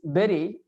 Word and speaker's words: bury: And then Bury is berry.